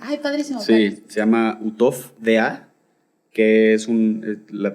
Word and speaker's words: Uhthoff: Y yo, ay, como la H muda.